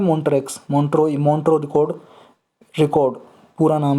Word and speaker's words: Montreux: भी बोलते हैं, मॉन्ट्रेक्स, मॉन्ट्रो रिकॉर्ड पूरा नाम है जी, मॉन्ट्रो रिकॉर्ड या मॉन्ट्रेक्स रिकॉर्ड। अब इसका प्रोनाउंसिएशन आप जो भी करना चाहो कर लो, मॉन्ट्रो रिकॉर्ड या मॉन्ट्रेक्स रिकॉर्ड, MONTREUX, मॉन्ट्रो रिकॉर्ड।